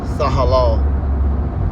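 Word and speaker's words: תהלה: The word is tahalah. Tahalah. Strong's H 8416 tehillah tehillah In the ancient Hebrew it's pronounced tahalah.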